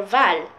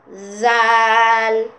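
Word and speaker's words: ذال: And that's the same thing for val. Zal. Instead of val, we say zal, soft C.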